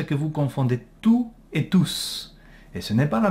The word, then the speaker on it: tous: substantif enfants donc donc il s'agit d'un pronom et vous devait prononcer le s ils étaient tous très contents ok et voilà et